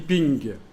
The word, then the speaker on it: PNG: J'avais cru que vous aviez dit ping. Le PNG, qu'on prononce ping en anglais, oui, le PNG.